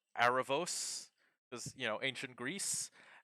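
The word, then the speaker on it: Erebus: Uh, Arabus is apparently pronounced like Arabos because, you know, ancient Greece.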